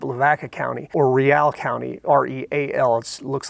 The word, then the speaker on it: Real: I grew up, Lavaca County, or Real County, REAL. It looks like real, but it's Real. Some people pronounce it Real.